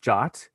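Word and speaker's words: JWT: the topic uh uh json web tokens they are pronounced jot it is a ietf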